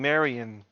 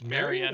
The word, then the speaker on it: Marian: over the fact that nathan keeps on mispronouncing marion it's marianne i thought it was